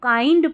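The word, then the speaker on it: kind: काइंड इसको काइंड पढ़ना है। किंड नहीं पढ़ेंगे।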